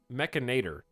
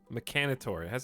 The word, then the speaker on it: Mechanitor: Why would it be pronounced Mechanator? It's an I-T-O-R. If it's mechanic, Mechanitor. It has to be Mechanitor for the I. If it was Mechanator, Mechaniter, it can't be that.